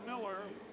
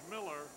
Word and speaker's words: Mueller: Bill Miller, it's spelled Mueller, but it's pronounced Miller, at third.